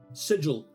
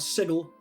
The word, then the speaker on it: sigil: other one being uh sigil not sickle it's a Sigil magic things on the